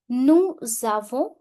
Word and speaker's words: nous avons: Nous avons, we have. Here S will overlap the sound of A. That is called liaison. Liaison.